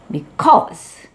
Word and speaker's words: because: 그리고 because 역시 be와 뒤에 cause에서 뒤에 있는 cause의 뜻이 중요하기 때문에 cause의 강세가 있게 됩니다. 그래서 be는 약하고 cause는 강하게 되죠. 그래서 because 하는 발음이 나오게 됩니다.